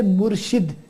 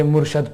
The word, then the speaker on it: Murshid: So whenever you mention a Peer Sahib, you say Murshid. Murshid Pak. Oh, Mera Murshid Sohna. So you can't say Murshad Pak. Yeah, you can't say Murshad because Murshad means Murid.